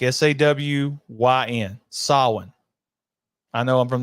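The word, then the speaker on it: Samhain: the pronunciation is sa I'm gonna repeat that there's no m Lumis says Sam Hayne and knows all about it the pronunciation is sa like S A Wyn sin I know I'm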